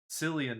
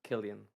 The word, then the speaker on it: Cillian: I or sorry, not Cillian Murphy, I think. I think that's how you I pronounce think it. it's pronounced Killian.